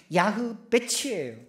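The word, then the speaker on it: יעבץ: 여러분, 야베스의 히브리 말을 발음을 이야기하면 야흐베치예요.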